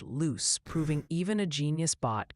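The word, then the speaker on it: Lewes: And a quick mea culpa, I have been informed by the locals that Lewis, Delaware, is actually pronounced loose, proving even a genius bot can be humbled by East Coast town names.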